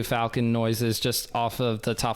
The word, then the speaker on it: Falcon: It's like, Falcon Punch! Like, it's very, like, he doesn't say Falcon. There's no pronunciation on the L. Actually, you're right. It sounds like he's saying Falco Punch.